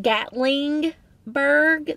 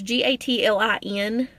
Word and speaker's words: Gatlinburg: They call it Gatlingburg. They put an extra G in it. It is Gatlinburg. Gatlin, not Gatling.